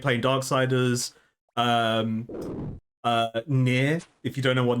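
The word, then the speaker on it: Nier: Um, uh, Near. If you don't know what Near is, great game. It's spelled N I E R.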